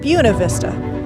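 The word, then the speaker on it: Buena Vista: Santa Isabel national forest located just outside of buav Vista Colorado that's right they pronounce it buav Vista that's how they adopted it way back in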